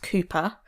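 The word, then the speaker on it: Cowper: the crime she is reading I believe it's pronounced Cooper WR cper yes was this your kind of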